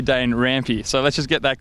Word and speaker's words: Dane Rampe: is your surname pronounced old Tommy over here says Dana ROM it's actually danger ampie so let's just get